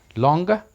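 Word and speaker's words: longer: Alright, लॉन्गर, मोर. आपने गौर किया, आर से पहले वॉवल है दोनों वर्ड्स में, इस वजह से आर की आवाज़ ऑलमोस्ट साइलेंट.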